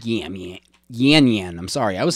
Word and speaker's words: Yan Yan: It's called Yan Yan. I'm sorry. I was saying. Let me top you off. Yes, please. I was saying Yan Yam Yam. It's Yan Yan.